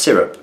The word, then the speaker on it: Syrup: my middle name is pronounced syrup, yes, just like what you put on pancakes.